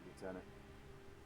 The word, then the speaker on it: lieutenant: Lieutenant, the Covenant are jamming alls to command. Man, it keeps me up that they pronounce lieutenant the the English way.